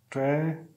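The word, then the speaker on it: tragedy: ज साउंड आएगा जे का, ट्रेजेडी, ठीक है।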